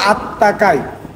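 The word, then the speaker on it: あたたかい: তার মানে টেম্পারেচার বেশি আতা তাকাই এটা উচ্চারণ বলবে হচ্ছে আত্মাকাই লিসেনিং এর মধ্যে বলবে আত্মাকাই ওকে ফুরুমাছি মানে হচ্ছে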